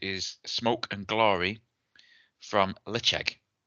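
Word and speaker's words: Ledaig: theirs recently, so I know it is sp pronounced Leche. Um, this Heroes and Heretics Smoke and Glory release showcases Petered Spirit called Leche produced at Tobamari distillery on the aisle of Mull.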